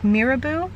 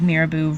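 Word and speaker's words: Mirabeau: Also, part of the competition was, and I think you say it like Mirabu, um, we don't really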